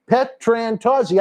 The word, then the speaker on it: Petrantozzi: Petrantozzi.